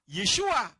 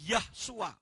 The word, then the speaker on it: Yeshua: Namanya itu bukan Yeshua, tapi Yahshua katanya. Kenapa? Kan Bapak mengatakan Yahweh dengan juru selamat itu satu. Jadi kalau Yahweh ya seharusnya Yahshua, namanya harus tetap Yah. Saya bilang Yod, Sin, Waw, Ayin yang dibaca Yeshua, Yodnya itu mengganti nama Yahweh.